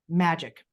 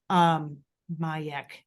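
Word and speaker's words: Magec: Magic. Mayek. Magic. It looks I'm like getting magic when I wrote it. Yeah, it's M-A-G-E-C, but pronounced Mayek.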